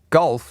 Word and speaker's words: golf: Golf does not rhyme with wolf. Golf rhymes with wolf, but that's not how you pronounce it. It's uh it looks the same, but it doesn't rhyme.